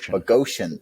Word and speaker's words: Boghossian: Conversations, Peter Boghossian, I think is how you pronounce it. Boghossian.